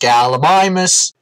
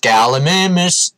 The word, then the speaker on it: Gallimimus: I think that one's called Gallimimus. What have you done to its pronunciation? It's pronounced Gallimimus. Not Gallimimus.